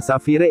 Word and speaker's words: Safire: Sebetulnya nama Safire itu dibacanya Safir.